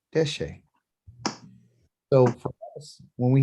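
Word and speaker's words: דשא: So 2 syllables, de, D-E-H, she, S-H-E-H, deshe.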